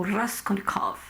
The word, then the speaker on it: Raskolnikov: o seu protagonista, o Raskolnikov, né? Ou Raskolnikov, como diz a Raquel, que é uma pronúncia muito diferente, né? Um R bem diferenciado, enfim.